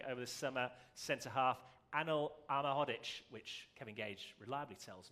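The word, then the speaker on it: Anel Ahmedhodžić: the new signing over the summer center half annal alma hoddich which kevin gage reliably tells me is how you pronounce it are we with that kevin yeah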